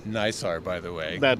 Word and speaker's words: NISAR: Paul Rosen, he's the project scientist for the NISAR satellite from the NASA end there.